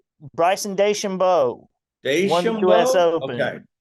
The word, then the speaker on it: DeChambeau: Yeah, I don't know if you saw this or not, but just about an hour ago, Bryson, I can't pronounce his last name. It's DeChambeau? Bryson DeChambeau.